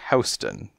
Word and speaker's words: Houston: of 14th Street and north of Houston pronounced as Houston but never mind what